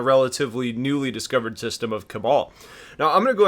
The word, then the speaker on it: Kabal: within this system now the general consensus is is that the pronunciation here is cabal but some are saying it's cable some are saying it's